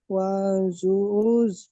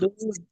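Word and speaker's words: ودود: ওয়া ইউব ওয়া হুয়াল গফুরু গফুরুল ওয়াজু ওয়াজুজ ওয়াউজ অদুদ, ওয়াজুজ জুজ নয় দুধ, ওয়াজুজ দুধ দুধ দুধ। ওয়াদুদ।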